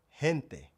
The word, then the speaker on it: gente: But also, the word for people, hen te. hen It has the H sound.